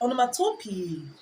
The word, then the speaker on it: onomatopoeia: or onomatopoeia the correct pronunciation is onomatopoeia some pronounce it as onomatopoeia for in any environment you find yourself I'm